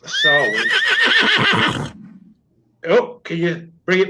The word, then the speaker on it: Samhain: In modern times, phonetically said, Sam Hain, Scots Gaelic, pronounced Sarwin.